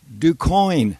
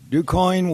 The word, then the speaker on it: DuQuoin: And it was a hayride in this little town in southern Illinois, DuQuoin, Illinois. Now that's spelled D-U-Q-U-O-I-N.